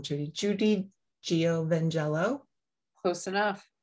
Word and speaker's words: Giovangelo: Judy Giovangelo. Close enough. It's more of a just Giovangelo. Giovangelo, that's it.